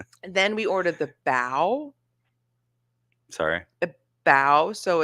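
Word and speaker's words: bao: then we ordered the bow sorry a bow so it's like are you pronouncing that correctly Bo you're right it's bo bo I still don't know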